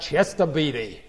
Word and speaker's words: Chester Beatty: Chester Beatty. Right? That's how you should pronounce that, Chester Beatty.